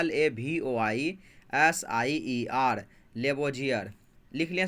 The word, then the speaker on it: Lavoisier: तो लेवोजियर, लोमे का, वोमो का, जो मर्सी का, यूरो, लेवोजियर, इंग्लिश बोलते हैं LAVOISIER, लेवोजियर। लिख लिया स्पेलिंग आप?